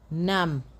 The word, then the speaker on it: numb: If a root word has MB as the last letters, as the final letters, the B is silent. For example, we have climb, bomb, thumb, dumb, comb, lamb, nam, crumb.